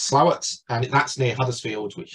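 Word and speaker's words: Slaithwaite: slightly larger settlement Court it looks like it's pronounced as slave weight but it's actually pronounced slower and that's near Huddersfield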